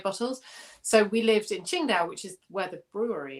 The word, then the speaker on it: Qingdao: memory that sticks out so we lived in qingdao um qingdao is spelt in in kind of modern chinese transit